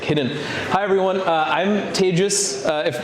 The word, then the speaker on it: Tejas: I'm Tejas. That's hard to pronounce, so think of contagious. That's how you say it.